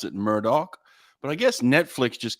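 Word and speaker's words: Murdaugh: spelled like that murder but they could they pronounce it Murdoch but I guess Netflix just came out with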